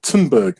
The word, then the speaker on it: Thunberg: my gripe with is not actually with greta tinberg and that's how you pronounce her name it is with the people